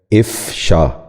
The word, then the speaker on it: افشا: چوتھا لفظ ہے افشا۔ یہ غلط تلفظ ہے، درست تلفظ ہے افشا۔ دوبارہ سنیے، افشا۔ بچوں آپ بھی غور سے